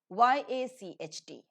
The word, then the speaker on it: yacht: Y-A-C-H-T, yacht. Yacht. Note the spelling and note the pronunciation.